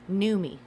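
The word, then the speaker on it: Noomi: me what my name it's pronounced new me i i no look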